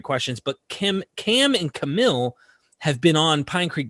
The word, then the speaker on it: Kamil: a good start yeah camille so people tend to pronounce it as camel so feel free to over pronounce the i at the end right in the last syllable yeah look guys this